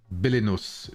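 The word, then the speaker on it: Belenos: Bellinos.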